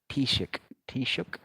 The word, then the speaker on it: Taoiseach: I mean, you've got this beast as this joke of a Tish, if I'm pronouncing it, they say Taoiseach, their version of Prime Minister.